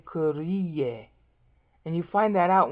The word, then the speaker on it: Kyrie: Kyrie. Two syllables. Kyr is how they do it in the modern. Kur is how they'd have done it in the old days.